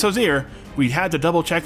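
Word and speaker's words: Hozier: copy today check this out the Matt Mercer josier meme based on a t-shirt that just says Hosier at the top in big letters but is full of pictures of Matt Mercer and yes it is pronounced josier we had to double check that about 12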